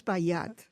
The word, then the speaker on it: Espilliat: It's Espilliat.